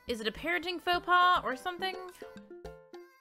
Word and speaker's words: faux pas: Like, is it a parenting faux pas or something? Baux pass is how you pronounce that.